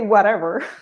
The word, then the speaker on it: whatever: Notice that with all of these words, I believe the stress is on the first syllable.